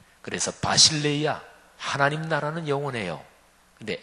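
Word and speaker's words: βασιλεία: 교회를 신약성경 원어 헬라어로 발음하면 에클레시아라고 발음하는데요, 하나님 나라는 바실레이아, 이렇게 발음합니다. 그래서 바실레이아, 하나님 나라는 영원해요.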